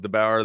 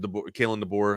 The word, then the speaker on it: DeBoer: I didn't think Alabama would cruise as smooth as they did with the new era of DeBauer there. Or Kalen DeBoer. I always say his damn name wrong.